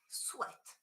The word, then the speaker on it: sweat: Okay, uh, this one is pronounced sweat.